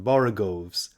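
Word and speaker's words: borogoves: rhyme with Groves again the first o in borov is pronounced like the O in borrow I have heard people TR to give it the sound of the O in worry such is human perversity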